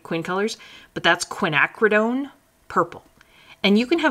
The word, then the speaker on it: quinacridone: Quin colors, but that's quinacridone purple. And you can have a bunch of different quinacridones. You can have quinacridone blue, purple.